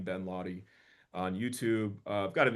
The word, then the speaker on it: Laude: It's just my name, Ben Lahy on YouTube. I've got an Instagram, too. I'll sometimes spell my name phonetically, L a wy so it's clear how to say it, but uh l aud